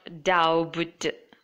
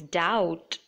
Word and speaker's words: doubt: So it is not doubt, it is doubt.